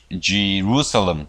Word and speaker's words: Jerusalem: 자, 예루살렘은 영어로 발음이 자 Jerusalem입니다. Jerusalem 이렇게 합니다. 제가 아니고 Jerusalem.